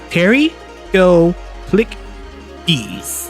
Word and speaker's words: Pterygoplichthys: name on the screen it's pronounced Terry go click D there less intimidating from